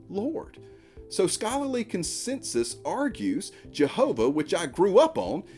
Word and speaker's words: Jehovah: we did it it's Jehovah well not so fast these two vowel points of God's Divine name are near matches to the vowel points of the Hebrew words Adonai and Elohim and these words mean